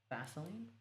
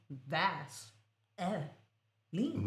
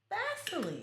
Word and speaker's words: Vaseline: It's spelled v a s e l i n e. Vas uh line No. Lit- literally, the brand itself calls themselves Vaseline.